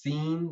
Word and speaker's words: Sin: those words okay yeah it's actually pronounced scene like s-e-e-n um this is uh